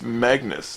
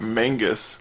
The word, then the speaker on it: Magnus: with Mr Mangus seriously it's Magnus not Mangus learn how to pronounce